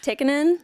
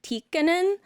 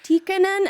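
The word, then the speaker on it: Tikkanen: my dad's from 100 you have to pronounce both consonants so it's technically tikkonen but like what an a-hole what I would sound like if I was just like actually it's tikkonen and it needs to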